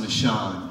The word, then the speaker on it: Nashon: a quick moment uh my name is pronounced nashon nashon i'm a democrat runner for city council district 7.